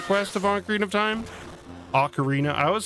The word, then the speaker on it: Ocarina: Ocarina, I always say ank instead of Ocarina. I've always thought there was an N at the beginning of the word Ocarina. I'd always pronounced it anarina.